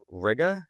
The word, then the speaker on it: Riga: So really quickly cuz you had said so your last name is pronounced Ria.